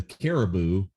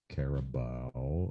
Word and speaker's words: Carabao: round um uh the Caribou what I call the Caribou but it's actually pronounced carabao I think Arsenal versus Liverpool and